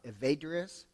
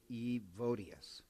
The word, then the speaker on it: Evodius: and then he ordains this guy named uh evades uh not I'm mispronouncing a evodius evodius to uh appoint him as bishop and